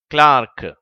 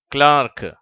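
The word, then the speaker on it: clerk: ஆ என்று சொல்லி அதற்கு உதாரணம் கிளார்க் இதை ஆங்கிலேயர்கள் கிளார்க் என்று உச்சரிக்கிறார்கள் அமெரிக்கர்கள் கிளர்க் என்று உச்சரிக்கிறார்கள்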